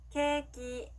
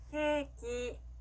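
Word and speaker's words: ケーキ: 발음 연습해 볼게요. 케이크, 케이크.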